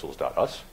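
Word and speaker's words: pixls.us: us which is actually how I pronounce that guess anybody was curious it's pixels. us so I looked at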